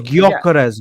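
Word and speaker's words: Gyökeres: Bro, It's Gyokeres, Gyok.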